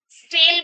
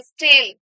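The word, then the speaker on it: stele: एस से स्टेल बोलते हैं। क्या बोलते हैं? क्या स्पेलिंग होती है? एस टी ई एल ई स्टेल।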